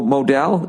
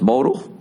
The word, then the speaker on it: modal: the following no mo Modell is pronounced modal every pair of meundies